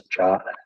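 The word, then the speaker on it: JWT: sending through another bwt sometimes hear that pronounce this jot always struck me as strange but here all we're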